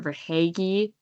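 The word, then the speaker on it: Verhaeghe: V E R H A E G H E for haggy.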